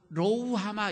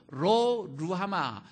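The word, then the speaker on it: 로루하마: 그럴 줄 알았습니다 여러분 읽을 때 뭐라고 읽어요 로우 하마 이렇게 읽으면 안 돼요 어 로 olo 루 아마 이렇게 읽어 줘야 됩니다 노후 하마 읽으며 너 뭔 소린지 들자 모르죠 로 루루 아마 이렇게 읽어 줘야 돼요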